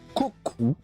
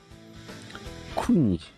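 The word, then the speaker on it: 国: on découvrira après, mais ça se prononce Koku. Ainsi que Kuni.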